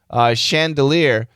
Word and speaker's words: chandelier: Chandelier, this is an SH. I think this is French.